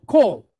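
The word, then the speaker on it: כל: So kol, right? Ends with a consonant sound.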